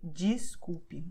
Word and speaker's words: desculpe: Okay, pay attention because DES is usually pronounced DIS. So you say desculpe, even though it's written desculpe.